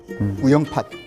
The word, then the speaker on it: 우영팟: 선생님 제주도니까 우영파도 아니에요 우영이라고 하는 말이 붙으면 팥으로 바뀌어요 우영팟 머멀 팟 머멀 바지락